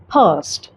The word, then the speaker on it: past: अगर आप British accent follow करते हैं तो आप इसे पढ़ेंगे past.